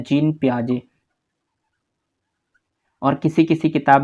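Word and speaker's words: Jean Piaget: से प्रोनाउंस करते हैं तो देखिए जीन पियाजे जो है उनका नाम है लेकिन अगर आप उसको स्पेलिंग को देखेंगे तो आप नॉर्मली पहली बार आप सोचेंगे जिन पाएंगे तो इसलिए एग्जामिनर यहां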